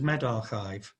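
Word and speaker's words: medRxiv: servers uh such as med archive sorry i i hope i've tried pronounced that correctly that x in the middle is a uh a greek letter chai you can go and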